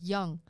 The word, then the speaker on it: Yeung: is young uh spelled y-e-u-n-g but it's pronounced young i don't know why like young blood yeah like y-o-u-n-g but